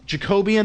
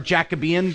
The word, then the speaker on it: Jacobean: So today we're going to cover, which is really the bulk of Puritan history, which is Jacobean or Jacobean, depending on how you want to pronounce it, and Caroline Puritanism.